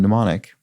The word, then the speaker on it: mnemonic: silent m movie because the m in mnemonic is a silent m it's not not pronounced